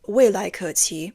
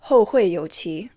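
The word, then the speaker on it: 未来可期: Even more comical was his pronunciation of Wei Lai Ke Qi as Hou Hui You Qi, turning the phrase, the future is promising, into we'll meet again in the future.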